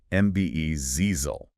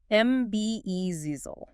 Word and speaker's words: embezzle: MB zezel. Three syllables. Stress on the second. MBE zizel.